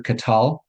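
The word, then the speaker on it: qatal: So, we're always um putting the uh the emphasis on the last syllable unless there's a marker, some reason uh some reason not to. Um so third masculine singular katal um and the verb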